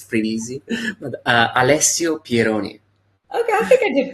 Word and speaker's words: Alessio Pieroni: So welcome to the show, Alessio Pieroni. I hope I said that right. I think I'm pretty good with the Italian pronunciations, but Pretty well.